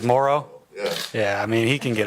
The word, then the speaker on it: Moreau: I thought it was Moreau, right? That's because Gruden called him Moreau and he didn't want to correct him. He thinks it's Morrow?